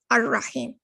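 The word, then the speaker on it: الرحيم: Notice how here you do not pronounce the lam in the al here. You're going ar-Rahman, ar-Rahim.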